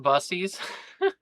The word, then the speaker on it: BIES: It's pronounced busies.